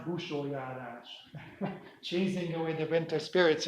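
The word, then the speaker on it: Busójárás: It's pronounced Busholjárás, chasing away the winter spirits in Hungary.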